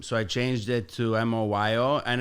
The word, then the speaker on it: Moyo: moo um because people would just like not pronounce my name properly it's actually moo so muu o i o like moo like